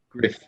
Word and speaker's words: Gruff: album is very enjoyable I always think I get the pronunciation of that right might be Gru it's spelled Gruff but I think it's Griff I think it's yeah Griff um that's a very